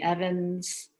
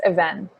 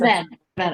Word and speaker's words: Even: the indigenous tribes, the Evans, is that how it's pronounced? The Evan people? Is that right? In Russian, it's Even, like emphasis. Even, I see.